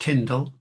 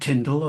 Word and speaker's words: Tyndale: I mean, the point is is uncertain, but yeah, I guessed he'd have said Tindle a lot of the time.